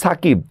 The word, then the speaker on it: সাকিব: তেমনিভাবে দেখেন সাকিব সর সাথে আকার উচ্চারণ হচ্ছে করের অস্বীকার। কিন্তু বর সাথে কিন্তু কোন উচ্চারণ নাই। এজন্য আমি সাকিব উচ্চারণের ক্ষেত্রে কিন্তু আমি একটা হসন্ত দিচ্ছি।